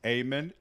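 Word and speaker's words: Eamon: couldn't figure out that emen is pronounced amen never mind that there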